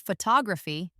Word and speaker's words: photography: For example, in the word photography, the stress is on the second syllable.